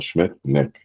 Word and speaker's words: Schmidtknecht: And make sure I pronounce your name correctly, Bill Schmidtknecht. It's pronounced Nick, so forgive me.